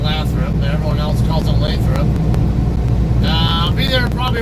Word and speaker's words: Lathrop: is throw up yeah everybody i know who lives up here in northern town calls it lathrop and i i i'm always scratching my head on why it's pronounced that way and why it's not gonna pronounce laughter kind of makes me curious